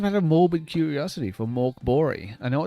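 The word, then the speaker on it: Mörk Borg: It is spelt Mork Borg, but I have it on good authority. It's pronounced Mork Bori.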